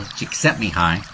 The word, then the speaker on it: Csikszentmihalyi: There's a psychologist named Mikhail Csikszentmihalyi. That's really how you say it, but don't try to spell it from that.